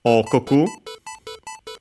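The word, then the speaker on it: 王国: This one is an accent, so like most Chinese compounds, so okoku.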